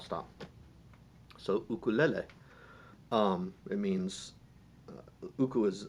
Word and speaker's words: uku: So uku is the words for small bugs. It's spelled UKU, and lele, Lele, where the vowel is the same, lele, and in uku, those are the same vowel too, ukulele.